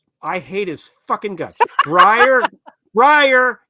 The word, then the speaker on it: Breyer: Breyer, it rhymes. Breyer, retire.